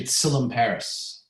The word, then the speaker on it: Tsilimparis: First of all, how do you pronounce your last name? It's actually Tsilimparis. Tsilimparis.